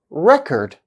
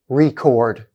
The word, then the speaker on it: record: word as an example when the stress is on the first syllable it is pronounced record this is a noun which means a written